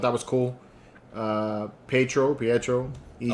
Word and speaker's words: Pietro: you all caught that wanda says pedro yeah and everybody else says pietro yeah she always says petro yeah that everybody else call says it like more syllables to it you know they say